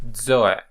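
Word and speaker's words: ζῷον: is zo zo zo you see this little Mark here this accent this stress uh is here to to communicate to to mean that the stress must be on ETA the stress must be on ETA and not on Omega for example so you don't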